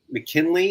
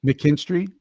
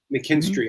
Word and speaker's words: McKinstry: I dropped him to pick up the um McKinley. Is that how you say it? Like the guy from Cleveland. Yeah, McKinstry. McKinstry.